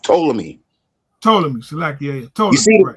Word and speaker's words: Ptolemy: It's pronounced Ptolemy. Salakia. You see the P, but it's called Ptolemy. The P is silent.